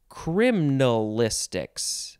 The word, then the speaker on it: criminalistics: minute or so criminalistics you could also just say criminalistics again you can take out that extra syllable it's basically the letter i why would you get rid of the letter i criminalistics no it's criminalistics much better okay noun from 1943